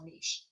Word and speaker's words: niche: I'll say it correctly for you guys, because we're not talking about me, we're talking about an actual niche.